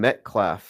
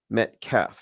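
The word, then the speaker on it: Metcalf: Let's go said oh you're call Oh yeah, Tim calling Austin Metclaf. Yeah, I was mispronouncing it. It's Austin metaf and metaf maybe it has some connotations to I don't know sacrifice or something.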